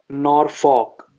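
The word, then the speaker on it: Norfolk: ड है वो है नॉर फॉक इसमें शायद से एल का साउंड साइलेंट रहता है तो हम इसको नॉर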